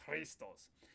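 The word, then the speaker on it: Χριστός: Christos Christos Christos So it's like a K and H mixed together.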